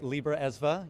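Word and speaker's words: Libraesva: Yeah, there is a lot of history around that, and thank you for pronouncing it correctly, Libra ESVA.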